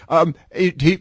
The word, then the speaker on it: Farage: of lean towards Nigel Farage. Am I pronouncing his last name correct? Nigel Farage. Yes. Farage.